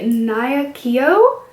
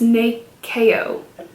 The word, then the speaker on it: Nyakio: Nope, they actually put the pronunciation on it and it's Nakeo. How? I don't know how that is pronounced that way, but there's the name and there's the pronunciation, and it says the pronunciation is Nakeo.